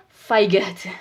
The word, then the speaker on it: fight: And fight, not fight. Okay. So the GH.